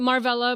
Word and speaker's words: Marvella: Marva is the most common way to say my name. Okay. Um I get Marlla.